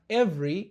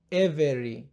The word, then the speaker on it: every: Tukianza na neno hili ukiangalia vizuri katika neno hili huwa tunabananisha V na R na tunaificha herufi E. Hivyo inatamkwa every na sio every.